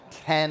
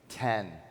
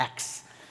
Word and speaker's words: X: Big news last week, the iPhone 10 launch. So it's interesting, there was an article that came out that said people are mispronouncing 10 because they look at the X, they call it the X.